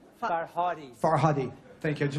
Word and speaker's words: Farhadi: Asghar, and could you tell us how he pronounces his last name too? Farhadi. Farhadi.